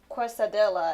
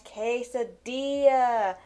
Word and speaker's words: quesadilla: this one word that how I pronounced was uh quadel and I'm like what is what is a quadel and then once I read it more and more into my head I'm like oh wait it's supposed to pronounce quadia and oh man and